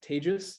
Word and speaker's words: Tejas: so my name is tejus that's unfortunately pronounced similar to contagious um i should maybe